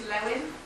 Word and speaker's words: Lewin: I think it's Lewin, but I need to double check that. Kurt Lewin? Yes. How do you spell it?